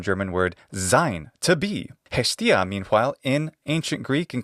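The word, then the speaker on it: Ἑστία: In classical Attic pronunciation, that's Hestia.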